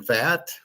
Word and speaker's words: Pfaadt: We got Brandon Fat, PFAADT. Why don't they just spell it FAT?